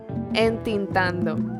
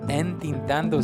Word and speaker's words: entintando: Entintando. Entintando. Yeah, I know. I really didn't know that one either. Entintando sounds like intentando.